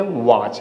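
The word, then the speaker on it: watch: इसे क्या बोलेंगे? वाच। वाच मींस क्या होती है? घड़ी। अब बचपन से सबको मालूम होगा। तो यहां पे क्या हो गया? टी हमारी साइलेंट हो गई।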